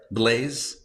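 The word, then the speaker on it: Blaise: Is that how we pronounce his name? Synrine. Did I get that right? Blaze. Blaze. Yeah. Blaze Pascal.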